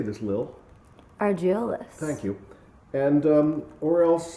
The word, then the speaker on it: Argiolis: Argiolis.